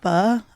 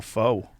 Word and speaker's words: pho: A lot of pho. I mean, he Oh. actually didn't. It was I just like how me. you said it right. Pho, of course. Most people are all faux.